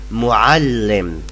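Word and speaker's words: مُعَلِّم: Yeah, I know the ain is so hard to pronounce, but no matter if you say muallim with a, not with a, no matter, we will understand you. If you say muallim, I can understand that you mean teacher in the masculine.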